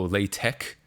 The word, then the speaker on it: LaTeX: has almost nothing to do with Java oh lat Tech um I don't respect that why didn't they why did they spell it with an X if it's not supposed